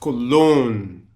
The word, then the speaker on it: cologne: Today's word is pronounced cologne. I don't want to hear cologne, cologne, cologne. I don't want to hear that shit.